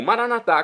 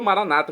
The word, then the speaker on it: maranata: E agora eu clamo maranatá, como dizemos nós católicos, ou maranata, como dizem nossos irmãos separados das comunidades evangélicas ou protestantes. Não importa a pronúncia, o significado é o mesmo.